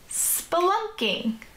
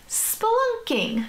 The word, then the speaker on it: spelunking: That part says spell, and then we have unk, and then we have ing. That looks like three separate syllables. So it goes spell, unk, ing. Spelunking.